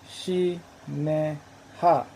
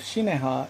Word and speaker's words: Shinehah: that by abraham's time would have probably be been pronounced similar to shi ne ha although they alternate in